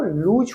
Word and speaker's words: lose: ये LOOSE noun, LOSE आपका verb, और इसका जो प्रोनाउंसिएशन होगा वो लूज होगा।